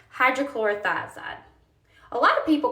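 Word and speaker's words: hydrochlorothiazide: I've heard hydrochlorox. I've heard I've heard um I've pretty much just heard hydrochlorox, but it's actually pronounced hydrochloroioide.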